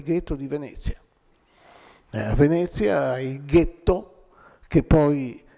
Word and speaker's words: ghetto: ghetto che poi è una parola pare mal pronunciata da gli ebrei di origine tedesca che in realtà si trattava del getto cioè di una fonderia per fare monete per coniare monete in questo oggetto diventato ghetto sono stati isolati più